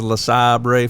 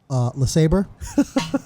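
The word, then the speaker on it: LeSabre: This guy had a 70s La Sabre for sale. Big wheels. I was going to For save those it. that don't know, that's the Venezuelan pronunciation of Le Sabre.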